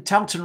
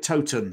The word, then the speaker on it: Towton: Colin, Towton rhymes with cow. It might do, but I've also heard Yorkshire people call it Towton. So you take your pick.